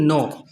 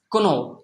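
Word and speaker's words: know: ইন is silent in নো নো শব্দের মধ্যে যে কে এর উচ্চারণটা হয় না এটা যদি কেউ না জানে সে নো বলবে না সে বলবে কোনো অথবা নাইফ নাইফের উচ্চারণ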